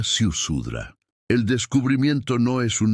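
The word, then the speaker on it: Ziusudra: La palabra, transcrita con esfuerzo, se pronuncia Siusudra.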